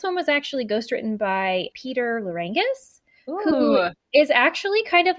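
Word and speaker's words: Peter Lerangis: Peter Larangis. Good for you, Peter. That's how you pronounce it.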